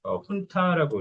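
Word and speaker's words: junta: 그래서 훈타라고 이제 준타 말고 발음도 훈타라고 이렇게 하는데, 어, 이 말이 한 번쯤 그 나올 법한 지문이었는데 한 번도 나오진 않았어요.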